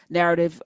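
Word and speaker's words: Knarrative: Narrative, the K is silent like knowledge, and then that's how you get into Nubia, through Narrative.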